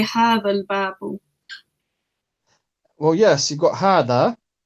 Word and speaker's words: هذا الباب: But as we know, the first letter of al-babu is known as hamzatul wasl. Yeah. And is only pronounced at the beginning of a sentence. That's right. So we say hadhal. That's right. We move straight to the lam. Okay. We skip that hamzatul wasl.